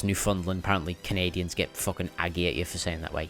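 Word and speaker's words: Newfoundland: And yes, it is pronounced New Fundland. I I kept saying Newf Foundland, but you know, it's New Land that you found, but no, it's New Funland.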